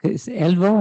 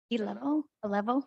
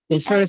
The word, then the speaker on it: Elevo: Yeah, that particular program, it's Elvo, I think. Elevo, yeah. How do you pronounce that? A level. Okay. A level. Well, it's sort of Levo.